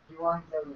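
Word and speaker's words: εὐαγγέλιον: there, Pronounce so- it. Let's hear. Euangelion.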